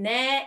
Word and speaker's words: 네: position is exactly the same when korean people pronounce there there there see i did not change the time position between near and dear since the time position is the